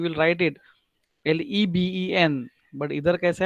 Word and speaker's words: leben: Leben means live.